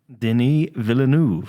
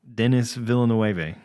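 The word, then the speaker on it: Denis Villeneuve: head how do you say his name though Deni villanu villanu right yeah okay as far as I'm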